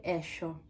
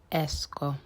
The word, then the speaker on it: esco: Poi esco. After checking online, I realized this word is pronounced esco, not esco.